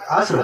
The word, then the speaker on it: عصر: اس کو جیسے اسیر نہیں بولا کہ نماز اسیر کی نماز پڑھنا یار نہیں, اسیر نہیں, عصر. قرآن مجید نے تو تلفظ بتا دیا نا, ہماری لغتیں جھوٹی ہیں, اللہ کا قرآن سچا ہے. والعصر دیکھیے قرآن نے عصر بتایا, قرآن مجید میں فجر نہیں.